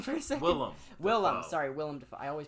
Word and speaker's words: Willem Dafoe: That remake with Zac Efron, John Travolta, William Dafoe. I couldn't think of his name for a second. Willem Dafoe. I always pronounce his name wrong.